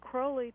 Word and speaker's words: Crowley: very interesting person and the name is crowley to rhyme with holy as he would tell you um he's a very